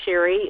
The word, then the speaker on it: Shari: I'm Shari, and it is pronounced Shari, and is pronounced thorough, as in complete.